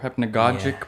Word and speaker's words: hypnagogic: Or hypnagogic pop. How do you pronounce that?